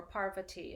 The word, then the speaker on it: Parvati: Ooh, Fem Elder's a good one for tonight because we're working with Parvati tonight, or Parvati as she's sometimes pronounced.